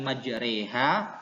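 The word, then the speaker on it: مجراها: Aslinya kan majroha, ya. Karena ini dibaca imalah jadi majreha. Pada lafal majroha, maka cara membacanya adalah majreha. Ingat sekali lagi, karena ini adalah imalah sugro, maka lafal majroha dibaca jadi majreha.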